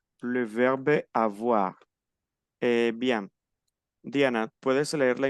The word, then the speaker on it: avoir: Porque la O y la I en francés es oa. Entonces yo digo avoir. Le verbe avoir.